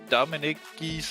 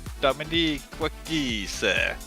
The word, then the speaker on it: Dominique Giese: Oliver Anderson, and maybe joining me later tonight in the booth will be Dominic Giese, or Dominique Giese, as I've been told to pronounce it.